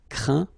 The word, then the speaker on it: craint: Okay, and as usual, final T here is not pronounced, so you get craint, contraint, plaint.